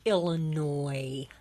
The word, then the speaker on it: Illinois: York uh Pa Ohio that's Illinois I'm sorry the S is silent I'm sorry my PA